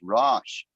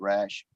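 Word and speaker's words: ראש: pluralizing the suffix so the real root word is rash pronounced Ro not like our English word rash um you will find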